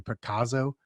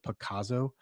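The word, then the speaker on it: Pacaso: I'm going to probably pronounce it incorrectly. Picasso, P-A-C-A-S-O, Picasso.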